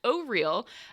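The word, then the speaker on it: Auril: uh in chat there i was also pronouncing it aural but it is in fact oh real uh which is great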